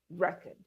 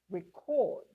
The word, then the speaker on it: record: So, now it's the word looking the same, but because here it's acting as a noun, we say record, the stress is on the first syllable and here as a verb, the stress shifts to the second syllable. It becomes record.